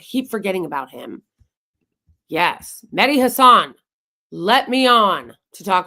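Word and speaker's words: Mehdi Hasan: interchange with Hassan perer it's medy Hassan that's how he says his last name I absolutely hate seeing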